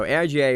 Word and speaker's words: AIGA: I think it's letters I think it's aiga acronym it's an acronym so I would say it's aiga okay so aiga is coming to Florida